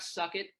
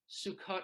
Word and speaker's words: Sukkot: Suck it, Sukkot, Russell. That's not how you say it.